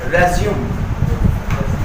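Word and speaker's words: résumé: Next word है रेज्यूम। तो एक वर्ड है RESUME, और एक साइड सेम स्पेलिंग रहेगी, एक साइड तो हम लोग इसको वहां पे खत्म कर रहे हैं रेज्यूम, और एक साइड हम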